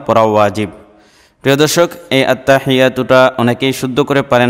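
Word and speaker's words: التحيات: আত্তাহিয়াতু লিল্লাহি আত্তাহিয়াতু লিল্লাহি অনেকে আত্তা লম্বা করে ফেলেন বা অন্য কোন ভুল করে থাকেন আত্তাহিয়াতু মাঝে তো এটার সঠিক উচ্চারণ হচ্ছে আত্তাহিয়াতুলিল্লাহি ওয়াস সালাওয়াতু ওয়াস সালাওয়াতু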